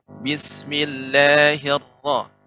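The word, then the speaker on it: بسم الله الرحمن الرحيم: Ketika juga membaca Bismillahirrahmanirrahim. Nah, juga getaran sedikit. Bismillahirrahmanirrahim. Hirra sedikit, tidak hirra.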